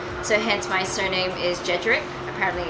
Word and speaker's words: Jedrek: My dad is actually half Polish, so hence my surname is Jedrek. Apparently it's pronounced Jedrek.